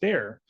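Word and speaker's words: Bexar: though it's spelled B X a R it's pronounced bear um so I got to learn that because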